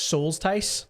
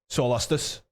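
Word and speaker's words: Soulstice: Souls Tice? So it's it's pronounced Solustus. Solustus? Yeah, it's like justice Gotcha, but with souls.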